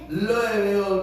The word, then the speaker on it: Louisville: Se escribe Louisville, con S, Louisville, pero se pronuncia Louisville, Kentucky. Qué cosa.